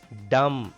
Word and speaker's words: dumb: Dumb. B is silent here.